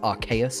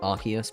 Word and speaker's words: Arceus: Technically, it's pronounced Arceus and not Arceus, but who pronounces it Arceus?